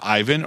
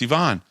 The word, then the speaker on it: Ivan: Is it Ivan or Yvonne? And he said, it's Yvonne. That's how you say it. It's Yvonne. And I guess he said it with kind of a little bit of a Russian accent.